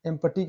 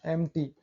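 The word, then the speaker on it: empty: देखिए एम टी, पी के बाद टी आया है, एम्पटी कहाँ पढ़ रहे हैं, एम टी, शाम, पी के बाद एस आया है, देखिए शाम, पी के बाद एन आया है, निमोनिया।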